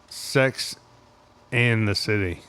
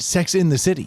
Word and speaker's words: Sex and the City: Sex and the City. Okay. How do you say it? That's correct. Yeah. So I always said Sex in the City.